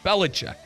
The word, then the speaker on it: Belichick: Belichick.